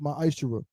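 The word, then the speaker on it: מעשר: In Malachi 3:es 8-10 means 10th in the Hebrew is pronounced my isher.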